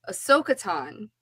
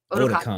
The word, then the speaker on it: Otakon: Then I know at Ahsoka-tan, you guys throw parties there too, right? Did I say it right? Otakon. Otakon. Otakon. I said Ahsoka-tan.